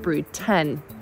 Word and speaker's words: Brood X: this year make up brood x pronounced brood 10.